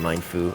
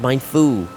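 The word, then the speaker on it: Mienfoo: I wanted Mine Fu or Mianfu. I I I'm not sure how it I want to say it's pronounced Myanfu because of the uh supposed to be be based on like get to the piss baby.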